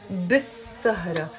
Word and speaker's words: بالسهرة: We write it بالسهرة, but we pronounce it بالسهرة. Why? Because whenever we have words starting with the letter sin, which we call a sun letter, we don't end up pronouncing the article ال.